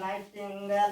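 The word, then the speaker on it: nightingale: हो जाता है दोस्तों जी एच के बाद टी आता है जी साइलेंट नाइट टेंगल मीन बुलबुल नाइट टेंगल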